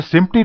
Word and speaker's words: SMPTE: एक है सिम्टी, पहला SMPTE, इसको सिम्टी बोलते हैं, इसका प्रोनाउंसिएशन। और दूसरा है फीट एंड फ्रेम।